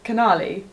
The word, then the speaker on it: Canali: packaging nice oh canelli is it cannelli or canali it's cannali well i'm pronouncing it how it reads it's canali there's no e in you're right canali canali